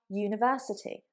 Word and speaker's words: university: But we would say a university, a university. There we have a umbrella, but ya, university. And in this case, the ya is a consonant. Y is not a vowel sound.